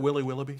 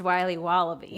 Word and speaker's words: Wiley Wallaby: Can I have a piece of that Willy Willoughby? Wally Wibbly. Wiley's Wallabies. Wallaby Wallies. Wilby Wababy. It's pronounced Wiley Wallaby. Well, it's very good. It's called Wiley Wallaby, and it's delicious.